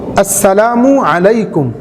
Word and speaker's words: আসসালামু আলাইকুম: শুদ্ধভাবে অক্ষরগুলি উচ্চারণ করা বিশেষ করে সালামের প্রথম যে অক্ষরটি আছে হামজা এবং শেষের যেই মিম অক্ষরটি আছে এগুলোর উচ্চারণ খুব সুস্পষ্টভাবে দেওয়ার চেষ্টা করা আসসালামু আলাইকুম সালাম আলাইকুম